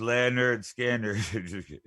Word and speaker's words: Lynyrd Skynyrd: we can all sing along and remember it's pronounced Leonard skander Leonard lienarde alright you ready Danny what do